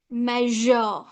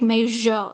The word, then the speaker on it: measure: You should not pronounce like measure, pleasure, vision, treasure.